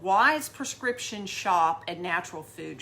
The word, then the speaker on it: Weise: Actually, they have the same last name as me, Wise, but it is spelled differently. They spell it W-E-I-S-E because it's the German spelling.